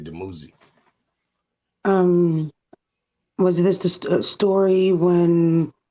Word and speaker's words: Dumuzi: Like back before, back when Abraham and all them people of the Bible, the ancient Christ was Tammuz. That's how they say it in English, but it's really Dumuzi.